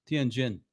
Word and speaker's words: Tianjin: I think I have another picture here, Ross, for the city of, how do you pronounce that? Tianjin.